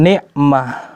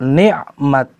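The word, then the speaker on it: نعمت: Bil Baqarah, dalam surat Al-Baqarah, wadhkuru ni'matallah, ni'mat, bukan ni'mah.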